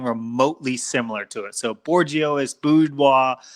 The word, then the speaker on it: Bourgeois: Bourgeois.